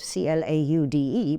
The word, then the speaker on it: Claude: the Claude master, and it's spelled Claude, C-L-A-U-D-E, but it's Claude.